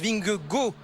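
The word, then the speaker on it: Vingegaard: donc vous voyez alors il faut le dire yonath winge gars se prononcent bing go 1 voilà la bonne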